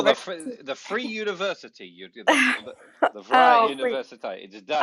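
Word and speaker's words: Vrije: right oh the the free university the fry university.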